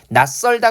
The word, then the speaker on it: 낯설다: 그 다음에 낯설다 같은 경우에 이 치읓 같은 경우에 어떻게 발음돼요? 예, 음절의 끝소리 규칙 때문에 디귿으로 발음이 되죠. 그래서 안 울림 소리 다음에 역시 된소리의 짝을 가지고 있는 시옷이 왔는데 얘가 어떻게 해요? 쌍시옷이라는 된소리로 바뀌어서 발음이 되고 있어요.